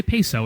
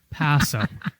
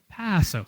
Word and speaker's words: Paso: it's a little redundant just say Paso just don't say peso it's not currency Paso Paso soft a okay yeah but that's